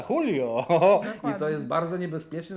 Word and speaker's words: Julio: dyżurny satyryk kraju A jak się pisze Julio to się czyta hulio i to jest bardzo